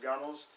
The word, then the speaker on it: gunwales: Point out that the gunnels, looks like gunwales, but pronounced gunnels, is the top, any place basically where water can come over the boat.